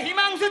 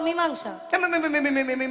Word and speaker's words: মীমাংসা: আজকে একবারে হিমাংশু চাই। হিমাংশা। মীমাংসা নয়, বলো মীমাংসা।